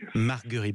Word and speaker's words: Marguerit: Marguerite, vous voyez, je me suis trompé, toutes mes excuses.